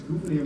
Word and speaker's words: Gouverneur: That's Gouverneur Morris, that's the way governors, right? Family of Gouverneur. Abigail Adams used to write phonetically. She gives us the best example of how to pronounce his name.